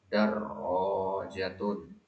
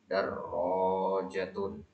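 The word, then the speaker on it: دَرَّاجَةٌ: Darrojatun. Tasdid pada rohnya. Perhatikan ya tasdidnya, jangan ketinggalan. Darrojatun.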